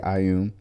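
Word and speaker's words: Ioun: different deity called uh i um pronounced like ayum and her common symbol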